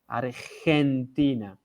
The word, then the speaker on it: Argentina: You remember when I pronounce Argentina and I say Argentina. So this G in Mexico is the same as that G in Argentina.